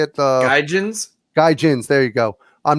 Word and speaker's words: gaijins: Gaijins.